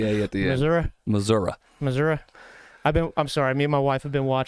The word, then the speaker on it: Missouri: state you're not from you didn't even say it right if you're from there well what the hell am I supposed to say it isn't it is it Missouri there's no a at the end unless you go to Mizzou that's